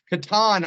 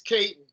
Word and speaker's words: Katon: I was saying Katon all these years. And then somebody on YouTube said, hey, that's what I've always thought it was too. So now we've cleared it up. It rhymes with Satan. Yep. It rhymes with Satan. It's Katon. Yeah.